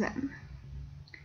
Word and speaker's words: aiment: J'aime, tu aimes, il aime, nous aimons, vous aimez, ils aiment. Notice that the plural form ends in ent. You don't pronounce it, but you always know it's there.